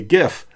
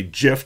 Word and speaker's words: GIF: is I'm going to make a gif with you or a gif depending on how you pronounce it where every uh frame